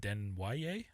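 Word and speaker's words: Desnoyers: My number two, I've got Caleb Denoy. Um Caleb Deno. Yes. French name. It's awesome. I love it. I think I'm saying it right. I think so. I've heard it said Denier as well.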